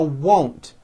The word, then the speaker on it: won't: Now won't. First say whoa with the W sound at the beginning and at the end, and then you add nt. Whoa, nt. Now you put it together.